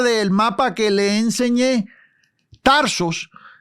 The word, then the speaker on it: Tarsos: Tarsos, el lugar donde Pablo nació, se pudiera pronunciar Tarsus.